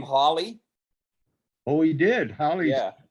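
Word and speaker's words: Halley: just a side point apparently he pronounced his name holly oh he did holly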